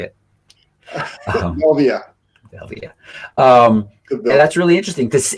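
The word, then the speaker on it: Velvia: Velveta.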